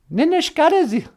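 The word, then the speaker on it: Ninishkaadiz: Ninishkadas. Ninishkadas. Ninishkadas. Oh, yeah. Here's how you remember how to say I'm mad. Ninishkadas is something you can say between grit teeth.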